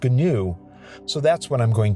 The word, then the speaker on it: GNU: people are going to tell me that it's pronounced new with no g but people who used it extensively back in the day have assured me it is pronounced gnu so that's what i'm going to use one